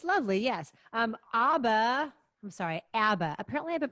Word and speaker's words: ABBA: ABBA. Apparently, I've been pronouncing ABBA wrong my whole life.